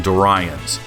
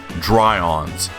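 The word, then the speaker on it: Doiron's: And yes, I am woefully mispronouncing Dorians, but it's spelled Do Irons. Nevertheless, Greg has repeatedly corrected me, slowly sounding out Dry-ons, casually slurring over 2 syllables.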